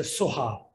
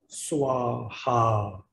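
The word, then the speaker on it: स्वाहा: Then you can say when you heard the Soha, Tibetan always say Soha. Sanskrit say Swaha.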